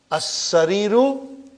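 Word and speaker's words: السرير: It's a shadda. Alas-sariri. I did not pronounce the alas-sariri. I did not pronounce alif. I did not pronounce lam. And in as-sariru, I only pronounce hamza. And I did not pronounce the lam.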